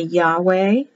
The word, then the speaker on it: Yahweh: It can be Yahweh. That's also correct because the V changes to a W. Either pronunciation is correct.